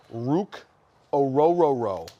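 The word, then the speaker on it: Orhorhoro: okay the Falcons have selected ruk ororo and that is how you pronounce it mhm third Team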